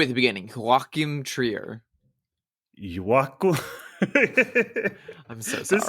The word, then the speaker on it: Joachim Trier: I looked up a pronunciation, by the way. Okay, and I will say it one more time. It's Joachim Trier.